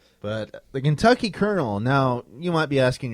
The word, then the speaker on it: Colonel: Well, we had a cocktail before the show when Kentucky Colonial. Well, I think it's pronounced the Kentucky Colonel. Then why doesn't it say K R Nel?